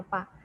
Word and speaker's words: alpha: Tapi kalau di soal dikasih tahu alpanya, ini bacanya alpha ya nak, koefisien muai panjang bacanya alpha.